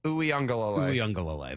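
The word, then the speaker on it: Uiagalelei: How do you pronounce the last name? Uyunglele.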